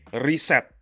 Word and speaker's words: reset: In Bahasa Indonesian, you have to say reset like that. It's like the E, the first E in reset is uh it's pronounced as if it's an I.